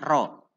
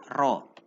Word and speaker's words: Rho: Ya, bacanya Rho. 1000 kilogram per meter kubik. Ya, 1000 kg per meter kubik ya. Dibaca Rho. Rho itu artinya massa jenis.